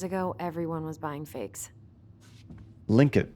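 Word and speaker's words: Tlingit: Linkit. I think that's how they pronounced it. Linkit. Like the T is silent. Not Tlinkit. Linkit.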